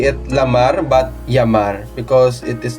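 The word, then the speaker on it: llamar: We also have d L or double L that sounds Y in Spanish. So there's a word uh for example to call in English. In Spanish it's Yamar.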